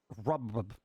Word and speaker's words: Robb: And the last name Robb with 2 B's. It's like Rob. It's Rob. John Rob.